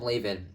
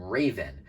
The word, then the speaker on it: Levan: main beadamon chrome laven has multiple different pronunciations the correct spelling is spelled chrome laven l-e-v-a-n however in the english dub they call it chrome raven which is definitely a better name for it considering that the beam